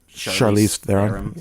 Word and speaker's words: Charlize Theron: my favorite example is atomic blonde with Charlize Charlize Theron's yeah that's how you say her name I